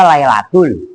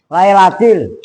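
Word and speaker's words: ليلة: Wa ma kan dibaca inna anzalnahu fi lailatil dibaca lailatul. Ya kan? Dikitin sama makmumnya lailatil.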